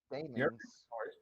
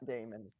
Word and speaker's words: demon: Demons. Not Damon.